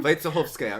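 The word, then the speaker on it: Вайцеховская: Vaitsekhovskaya, right? That's how we pronounce it?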